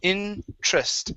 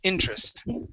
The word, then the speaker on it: interest: up is interest okay in this word the e is silent we do not pronounce it says interest interest interest okay some interest